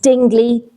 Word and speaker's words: Dingley: I'll tell you, his family name is Dingley, Dingley.